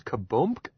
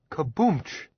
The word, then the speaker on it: Kaboomch: His name is Kaboomk? Sure, Kaboomch. Willis agreed, correcting Jim's pronunciation.